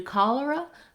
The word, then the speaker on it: cholera: If you can do cholera, collar is actually easier. It's the same two first syllables, the call and the lur.